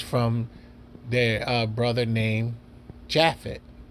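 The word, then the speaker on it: Japheth: their uh brother named jaffet a more pres pronounced Yafit due to the Y and the J J being the newest letter in exchange for for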